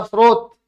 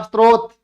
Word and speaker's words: स्रोत: अगर कोई, किसी ने सुना, जैसे मैंने बोला स्रोत, और किसी ने सुना स्त्रोत, तो वह स्त्रोत लिखेगा।